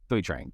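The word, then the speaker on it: Thuy Trang: Thai Trang? Is that how you pronounce it? Tui Trang.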